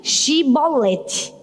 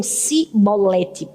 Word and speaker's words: chibolete: não era de Efraim, ele dizia assim: "Diga chibolete". E aí muitos deles diziam cibolete, não conseguiam dizer o xi por causa da pronúncia do lugar de onde eles eram.